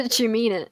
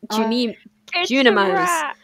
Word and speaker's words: Junimos: They call themselves the Jumina. Junimos. I can never remember. I always pronounce them Juminos, and that's not what they're called.